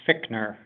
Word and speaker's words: Fitchner: Yes, and that would be pronounced Fickner.